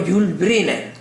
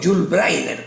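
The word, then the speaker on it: Yul Brynner: pelo, fue a los Jul Briner o Jul Brainer, como lo quieran pronunciar, y me decía a mí el entrenador, "Ese debe ser el clave.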